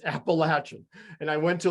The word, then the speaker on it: Appalachian: went to your college and i think i pronounced it appalachian appalachian state and you gave me a disgusting look man appalachian appalachia it's a common mistake though but uh appalachian stays the correct correct uh term and i